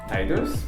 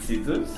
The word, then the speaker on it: Tidus: Donc on va commencer par le personnage principal que moi, je le prononce Tidus, mais je pense que beaucoup de gens vont prononcer Tidus.